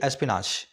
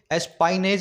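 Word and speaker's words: espionage: एस्पाइनेज नहीं बोलेंगे, सही वर्ड है इसका जो प्रोनाउंसिएशन है वो एस्पिनाज है ना, एस्पिनाज।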